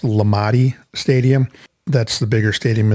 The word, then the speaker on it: Lamade: It's spelled Lamade and pronounced Lamade Stadium.